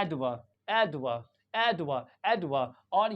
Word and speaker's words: advocate: जो प्रोनंसिएशन होता है इसके अंदर ये जो एडी होता है इसको ऐड पढ़ते हैं क्या पढ़ते हैं ऐड ऐड ड इसको अड नहीं पढ़ते ड क्या पढ़ते ड और ये जो वीओ होता है वीओ एक्चुअल में ये वी ओ जो होता है ये साउंड लाइक वा यहां पे बहुत ही जल्दी पढ़ते हैं इसको यानी ये शुआ हो जाता है इसको भी जल्दी पढ़ते हैं एडवा एडवा एडवा एडवर्ब और